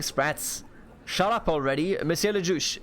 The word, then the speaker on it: le juge: Shut up already, Monsieur le Juge. Le Judge. How do you say it in French? Le Juge.